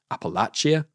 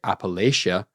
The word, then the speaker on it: Appalachia: I think a lot of people will call it um Appalachia. A lot of people call it Appalachia. Believe the British pronunciation is actually Appalachia, which sounds kind of right to me.